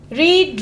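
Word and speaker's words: read: रीड, रेड, रेड। मैंने पहले भी कहा था स्पेलिंग सेम होगा लेकिन प्रोनाउंस करते हुए वर्ड्स चेंज हो जाएंगे।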